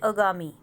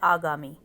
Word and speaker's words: आगामी: अब जैसे अगामी, अगामी को हम पढ़ते हैं, इसका शुद्ध रूप है आगामी।